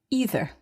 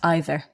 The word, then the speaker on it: either: or belgium mark but i would naturally say either not either but both are acceptable and you can choose which you prefer that's right there isn't